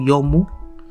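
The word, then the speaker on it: 読む: Nah, kungyominya yaitu yomu, ongyominya doku, toku, to.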